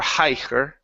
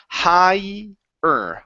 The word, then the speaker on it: higher: In this word, the GH does not have a sound, so we don't say higher or higher. Okay, it's higher, higher.